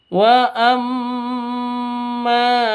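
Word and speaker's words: وَأَمَّا: Wa amma mim tasydid. Mim tasydidnya berdiri sendiri, bukan karena nun mati atau tanwin. Maka mim tasydid ini bacanya cara bacanya didengungkan ya. Didengungkan karena bacaan apa? Karena bacaan gunnah musyaddadah. Dengung 2 ketuk. Didengungkan 2 ketuk.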